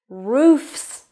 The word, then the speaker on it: roofs: Roofs, so it's an S sound.